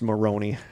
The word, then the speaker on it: Moron: Moron pronounced Maroney for name of my least favorite person.